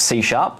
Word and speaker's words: C#: It's pronounced C#, and that's why I keep saying C#. It's interesting we have that It on the looks slide. like C pound is why.